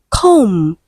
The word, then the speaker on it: comb: Option C we have comb. The last sound is M not B. Letter B is silent.